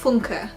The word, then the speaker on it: Funke: Reckless 3, or The Golden Yarn by Cornelia Funke, or as I have now learnt to pronounce it, Cornelia Funke.